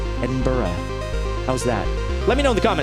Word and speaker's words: Edinburgh: Is it Edinburgh? Kind of got to go Edinburgh. It's not Edinburgh. That's just outright wrong. But I would say Edinburgh, which is too hard on the burrow. Edinburgh.